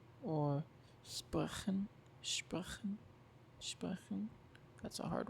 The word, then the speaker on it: sprechen: And like that, sprechen, it's like after E, so it's soft.